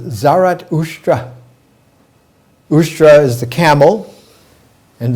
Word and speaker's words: Zarathustra: visioner and that original vision's visioner's name was zarathustra in his language avestan his name is pronounced zarat ustra ushra is the camel and zarat is being